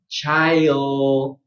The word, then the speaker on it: child: First, get the ch, and then your diphthong, I, and raise your tongue. Child.